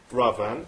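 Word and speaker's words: Raavan: Ravan. That's right, you pronounced it correctly.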